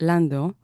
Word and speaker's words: Landau: it really means a lot to me Idan Lando or in Hebrew it's pronounced Lando is a political blogger who began writing his